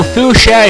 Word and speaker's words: Fuchsia: fuchsia is spelled Common Sense would dictate that it's spelled s but instead it's CHS so it looks like some kind of German World or something FIA or why not even foxia if you pronounce the h that way so yeah I never